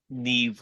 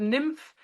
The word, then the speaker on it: Niamh: so um Neeve Ulan your first name is spelled n a MH how did the Germans pronounce it oh God they called me I was called Everything I was called nymph neam Nima yamam everything I had a I had